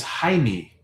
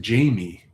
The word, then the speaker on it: Jaime: So, if you're from Chile, then your name is Jaime, I guess, right? You wouldn't pronounce it Jamie like the the western way.